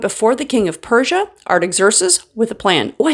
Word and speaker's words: Artaxerxes: After fasting and praying before God for some days it says, Nehemiah went before the king of Persia, Artaxerxes, with a plan.